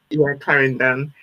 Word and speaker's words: Clarendon: That's the way you pronounce it. Clarendon.